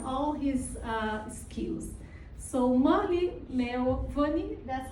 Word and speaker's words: Murli Melwani: So, Mali Money, that's how you say pronounce.